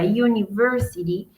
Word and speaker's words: university: gramática inglesa, eh, university es como si estuviéramos hablando del sonido cuando decimos o pronunciamos la letra y, y, ¿cierto?